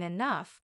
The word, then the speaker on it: enough: day I'll even understand why G can sound like f in enough maybe one day I'll